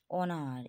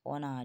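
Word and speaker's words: honour: যখন সাইলেন্ট থাকে দেখো অনার এইচ ও এন ও ইউ আর অ বলছি হ কিন্তু বলছি না অনার এইচ ও এন ও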